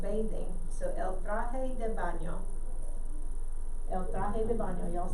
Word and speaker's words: baño: copied for me, but baño has the little tilde, what they call a tilde. It's a little curvy line over the N, and that's how you get the y sound. Baño. Gotta have a y, baño in there.